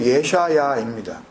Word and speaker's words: 예샤야: 원전에 기록된 책 이름은 발음이 히브리어 발음으로 예샤야입니다.